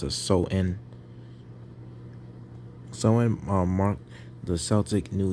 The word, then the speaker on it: Samhain: change the dates because samhain pronounced so in as is a samhain oh no pronounce so in oh so when is